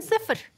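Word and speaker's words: صفر: 영은 발음이 어떻게 되죠? 얘는 스프르.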